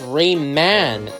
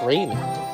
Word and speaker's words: Rayman: get my name wrong they call me Raymond but it's Rayman not Raymond moving on her parents